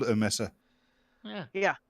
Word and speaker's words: mesa: ] like flat topped mountains everybody calls them maces um like they're pronounced Mesa and then you're calling it a table yeah I always call it a Messer yeah yeah Mesa which is Spanish for tablet when we're talking